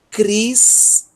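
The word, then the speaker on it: Χριστός: Então a primeira sílaba, Cris, tá? E a segunda sílaba, ó, temos um tal, um ômicron e um sigma. Tos. Cristos. Cristos.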